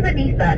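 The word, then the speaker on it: Anyssa: My name is Anissa, and my extension is going to be 0645. Anissa? Yeah. Oh, can you spell that?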